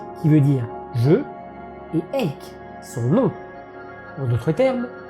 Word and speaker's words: Eyck: Sur la partie basse, Van Eyck a apposé sa signature.